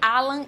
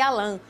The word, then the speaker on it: Alan: te trazer uma informação não existe uma uma pronúncia certa ou errada entre Alan e Alan um é uma pronúncia Francesa e outra inglesa show mas eu acho